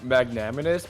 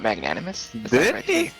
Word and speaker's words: magnanimous: able to say um magnaminous but not much you literally just said it wrong what magnanimous i heard magnanimous with an m and not an n oh i heard enough